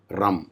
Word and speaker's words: Ram: For Manipura, it is always Ram, R-A-M, not R-U-M.